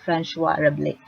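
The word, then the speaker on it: François Rabelais: That's how you pronounce the name. It's a French name. So I actually searched YouTube on how to correctly pronounce the name, and it says Francois Rabelais.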